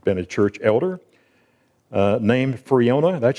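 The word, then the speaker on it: Friona: 15 years i've been a church elder named freona that's how you pronounce that freona texas man of the year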